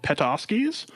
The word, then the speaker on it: Podolski's: Seattle area in Seattle it is called pet offs keys that is the name they have there that that's how they've wanted it to be pronounced so Podolski's is in Seattle and